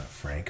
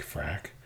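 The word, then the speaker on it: Fraktur: um just another font f r a k not Frank frack and then uh calligraphy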